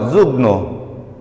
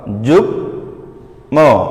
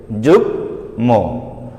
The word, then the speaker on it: যুগ্ম: এ সকল ব্যঞ্জনে যুক্ত মধ্য ও অন্ত মফলা উচ্চারিত হয়।